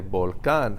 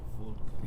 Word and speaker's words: volcán: You say volcán. How do you know you're putting the stress on the A?